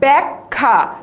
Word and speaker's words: ব্যাখ্যা: তাই এই জায়গা থেকে আমরা কি বলবো আমরা ব্যাখ্যা, একটা ক উচ্চারণ করতে হবে।